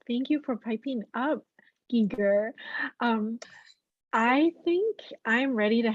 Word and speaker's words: Geiger: And mine, I pronounce my name Giger, but it's spelled Geiger, which is the German pronunciation. The Swiss say Giger. And the cultural thing in